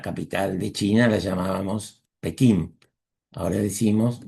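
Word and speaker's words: Beijing: Beijin no es una traducción, sino una transliteración que toma el sonido de cómo se pronuncia en China el nombre de esta capital y lo transmite fonéticamente para que nosotros lo escuchemos y lo expresemos de esa manera.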